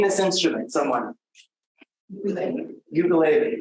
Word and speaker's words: ukulele: I told you that if you ask this guy, a local who in Hawaii, how to pronounce that instrument, it isn't ukulele, it is ukulele, okay?